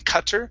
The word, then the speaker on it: cutter: Okay, so remember, our double T in most cases is going to be a D sound or a Cutter. flap T. Okay, So yeah. instead of saying cutter, it's Yeah, cutter, yeah, yeah.